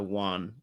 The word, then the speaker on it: Juan: why in Spanish the J is is is pronounced like a like a w or Y depending you know okay fair enough so Juan Juan I have to remember that okay so